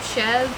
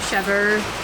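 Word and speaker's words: chèvre: Some people will pronounce it a little different, but we just say Chev. Some people say Chever Yeah. or Chevra.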